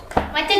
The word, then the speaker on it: matcha: Cara bacanya bukan gitu, Pak. Cara bacanya Apa? maca chip.